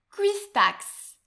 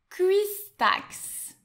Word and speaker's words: cuistax: Attention, celui-ci, il est très difficile à prononcer, c'est un cuistax. Un cuistax.